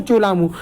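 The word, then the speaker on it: Tso Lhamo: ठीक है, चोलामू, इसमें ये टी साइलेंट रहता है, सोलामू, चोलामू, ये आपको याद कर लेना इसके नाम।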